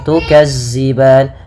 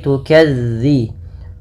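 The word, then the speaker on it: تُكَذِّبَانِ: dalal hati-hati teman-teman dilafalmelafalkan dalalnya jangan diganti dengan huruf Zai jangan tukazziban tapi tukadzi bagaimana cara melafalkannya ujung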